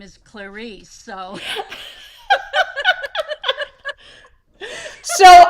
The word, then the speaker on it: Clarice: And her name is Clarice, rhymes with Paris. Before I met her, I was calling her Clarice from that movie.